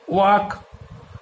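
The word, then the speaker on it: walk: একইভাবে আমরা যদি এল সাইলেন্ট লেটারে আসি তাহলে দেখা যাবে ওয়াক, আর্মস, টক, কাম এর প্রত্যেকটা ক্ষেত্রেই কিন্তু এল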